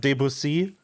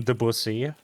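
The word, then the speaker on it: Debussy: Also, yes, I'm aware that his name is pronounced Debusy, but I love calling him the busy.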